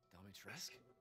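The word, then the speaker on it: Dimitrescu: Domitresk? The very same. Oh, you don't pronounce the U?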